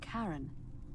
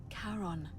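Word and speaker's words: Charon: is a little off the name you heard wasn't Karen it was c h a r o n as in karon the Fairman of the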